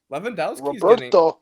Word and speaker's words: Lewandowski: Lewandowski's Roberto's getting old. Oh, no. Lewandowski, that's how you Liam.